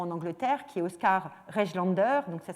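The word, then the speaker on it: Rejlander: qui travaille essentiellement en Angleterre, qui est Oscar Regelander. Donc ça s'écrit R-E-J-L-A-N-D-E-R, et donc est un des grands photographes de la photographie victorienne.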